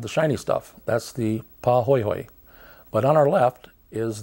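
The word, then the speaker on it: pahoehoe: outer surface like that is called PA hoyhoy lava it's spelled p a h o h OE H OE and it's very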